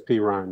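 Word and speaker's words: Perine: I think the pronunciation is Perrine. Perrine, yeah. Really? It's Perrine, yeah.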